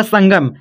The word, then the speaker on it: संगम: तो कैसे होगा, देखो यहाँ पर देखो आपका संगम, सन हो रहा है फिर गम, ऐसे आप धीमे उच्चारण कीजिए, सन हो रहा है फिर गम, तो क्या होगा, सन हो गया, यहाँ पर गम, संगम हो गया, ठीक।